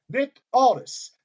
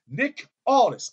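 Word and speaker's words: Aldis: say the NWA World Heavyweight Champion Nick artists Nick Aldous Nick Aldous I could not say that word yesterday if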